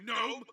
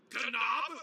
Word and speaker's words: gnome: LETTERS CAN BE SILENT, YOU GNOME. WHAT? YOU PRONOUNCE GNOME LIKE GUH-NOME?